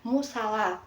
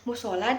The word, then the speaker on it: musala: Yang benar itu adalah kata musala. Nah, kesalahan ejaan ini itu terjadi karena pengaruh pelafalan lisan yang sering diucapkan dalam kehidupan sehari-hari. Nah, masyarakat itu sering mengucapkan musola daripada musala.